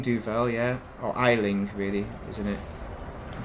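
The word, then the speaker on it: Aisling: Isling Duval, yeah. Or Eiling, really, isn't it? I'm pronouncing it wrong on purpose, of course.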